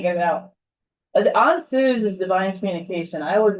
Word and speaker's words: Ansuz: Put the emphasis on the first syllable. Ansuz.